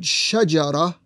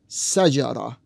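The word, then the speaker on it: شجرة: In some slants of the same Arabic language, the word is pronounced sajara. Instead of the SH sound, it is an S sound.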